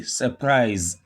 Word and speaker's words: surprise: The rule says stress the second syllable, don't stress the first.